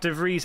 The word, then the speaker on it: De Vries: Pronounced De Vries as Fries, but the S voiceless.